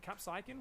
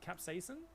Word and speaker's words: capsaicin: say it goes cat capacin capsaicin whatever that capsaican whatever it is after this series I can kill myself apparently it's capsize capsaicin man thank you hello the wings won't be